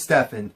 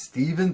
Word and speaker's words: Stefan: His name is Stefan. Well, his name is Steven, but it's spelled like Stefan.